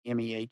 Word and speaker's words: Mehta: You are Pratap Mehta, if I pronounce that kind of right, Mehta.